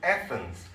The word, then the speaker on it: Athens: He spent most of his life in Athens. 자, 이 에피큐러스는 대부분의 자기의 생애를 아테네에서 보냈다. 이렇게 되죠. 아테네도 이게 영어식으로 발음하면 우리하고는 상당히 다릅니다. Athens 이렇게.